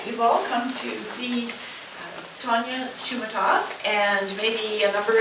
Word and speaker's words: Tonia: So it's actually Antonia or Tonia to rhyme with Bologna or Begonia.